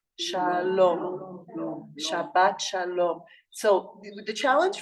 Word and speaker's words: shalom: I would like to ask you how to pronounce the word s h a l o m that's a tricky one shalom shalom Shalom o